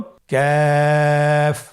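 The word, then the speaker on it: كاف: আবার বলুন কাফ। কাফের মাখরাজ আমরা স্ক্রিনে দেখতে পাচ্ছি। কাফের মাখরাজ হলো জিহ্বার গোড়া থেকে একটু আগে বাড়িয়ে তার বরাবর উপরে তালির সঙ্গে লাগিয়ে উচ্চারিত হয়।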